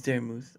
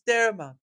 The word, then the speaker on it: Daramouthe: My name is Daramuth, of course, or Dara for short, because some of you folks don't know how to say it right, okay? Every stinking time. Oh, look, it's Daramouth. Oh, look, it's Daramouth. Daramouth this, Daramouth that.